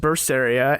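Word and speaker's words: Berseria: yes tell me what language is that it's pronounced bursts area and it's in the language of Japanese fantasy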